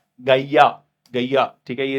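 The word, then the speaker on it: Gaia: जो है होल का गैया गैया ठीक हैय इसको इस तरीके से प्रोनाउंस करते हैं जैसे गाय गाय की तरह गैया ठीक है तो आप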